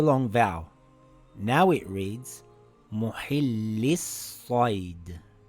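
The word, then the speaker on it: مُحِلِّي الصَّيْدِ: Now it reads Muhillis-Said. Muhillis-Said. Muhillis-Said. Notice how I didn't pronounce the lam? I said Muhillis-Said and not Muhillil-Said.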